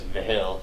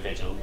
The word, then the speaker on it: Vigil: If I knew she was Hispanic, I would know the G was Vihil instead of Vigil.